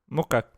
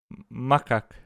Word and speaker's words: macaque: Pronounced mukak. Makak. Čia bus tariama kaip makak, tipo makak.